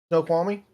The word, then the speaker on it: Snoqualmie: it the school Army pass how do you pronounce this one snow qualmie Snoqualmie okay thank you okay so everything basically uh